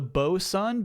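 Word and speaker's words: boatswain: The name of that trophy was the boson. B O S U N, which is how my chat pronounces boat swain.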